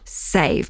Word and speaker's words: Saive: Save, but it's spelled Saive.